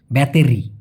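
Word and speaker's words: bateri: আর ওরা বলে তিরি মানে টিটাকে ওরা ত উচ্চারণ করে ব্যাটারি দেখুন ব্যাটারি এটাকে বলে মালয়েশিয়ান ভাষায় ব্যাতেরি বাতেরি ওকে তেরি মানে টটাকে ত উচ্চারণ করতে হবে দেয়াল ঘড়ি জাম ডিন্ডিং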